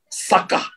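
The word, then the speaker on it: שָׁחָה: Tulisannya S-H-A-C-H-A-H. Sakah. Bacanya sakah.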